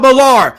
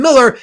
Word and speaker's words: Millar: His name is spelled Millar, so I'll call him Millar. If you wanted me to call him Miller, he'd spell it Miller. But it's not spelled Miller. It's spelled Millar, so I'm calling him Millar.